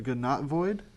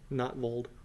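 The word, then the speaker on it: Gnottvold: The Gnotvoid. Gnotvold. Notvold. A Notvold Recluse. G is silent.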